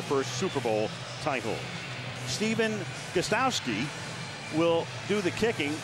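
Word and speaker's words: Gostkowski: Stephen Gostowski will do the kicking. That first K is silent.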